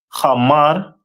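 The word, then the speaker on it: חמור: And their symbol is a donkey, which is pronounced in the Hebrew as Hamar.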